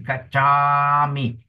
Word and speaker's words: gacchami: There's an art of pronunciation, art, Example in Pali is gacchami, gacchami. Remember the word is gacchami, okay?